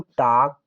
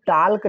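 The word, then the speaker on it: talk: एल के पढ़ेंगे हम टाक क्या टक इसे हम टलक नहीं पढ़ते हैं टॉक पढ़ते हैं एल साइलेंट रहता है सो प्यारे दोस्तों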